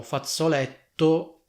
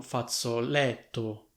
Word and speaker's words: fazzoletto: Fate attenzione a come si scrive e a come si pronuncia questa parola, perché questa parola contiene due doppie, cioè una doppia Z che si pronuncia come Z e una doppia T, infatti noi diciamo fazzoletto e non fazzoletto, quindi mi raccomando, ci sono due Z e due T.